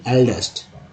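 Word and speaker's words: eldest: यहाँ पर ई को बोलते, ई लिखते हैं ना इल्डेस्ट, लोग इल्डेस्ट ही पढ़ देंगे, लेकिन एल्डेस्ट सही उच्चारण है।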